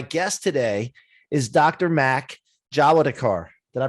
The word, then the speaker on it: Jawadekar: place but my guest today is dr mack javadekar did i pronounce that right doctor yeah yeah you got